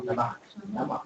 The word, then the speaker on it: Lamarck: ¿Cómo se pronuncia? Lamarck.